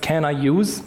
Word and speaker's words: Can I use: can i use website it's pronounced can i use okay most of the